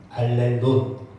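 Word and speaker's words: ἀλλήλων: 저거를 뭐라고 읽냐면 알렐론이라고 읽어요. 알렐론.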